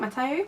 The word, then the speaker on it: Mateo: So the first book is Moxie by Jennifer Matteo, I think that's how you say it, Matteo, which is 330 pages,